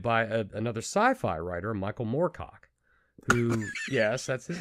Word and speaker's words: Moorcock: Black Blade, the lyrics were actually contributed by another sci-fi writer, Michael Moorcock, who, yes, that's his name. That's his name. Jesus, let's turn into a gay joke. Moorcock. Not Morecock.